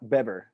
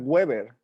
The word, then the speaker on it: Weber: Tequilana beber, blue agave. I didn't think you pronounced that weird. That's fine. That's You good. say Tequilana Weber, and I say it's Tequilana beber with a V.